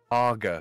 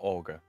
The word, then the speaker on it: Aga: that looks so strange there's no augers here agar not Olga this is Craig Craig and all over again isn't it Olga is spelled a-u-g-e-r this is an agar a-r-g-e-r it's a particular type of stove oh okay I like